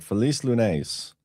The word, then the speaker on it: Feliz Lunes: All right, Feliz Lunes.